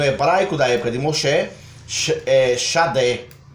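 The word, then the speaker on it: שדה: da época de Moshe, Shadé. No hebraico hoje pronunciado fica Sadé, que geralmente é traduzido como campo, simplesmente um campo.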